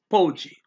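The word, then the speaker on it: pode: the world mundo okay that's p-o-d-e so it's that's the vowel ending so kept with the stress the second last syllable bow so it's pogey pogie pogey sare mice okay is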